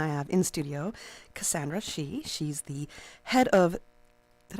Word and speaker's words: Shea: storytelling festival and I have in studio Cassandra shei she's the head of did I say your last name wrong that's okay oh God sh sh you know I asked her three times already Cassandra Shay I'm sorry head of theater and festivals at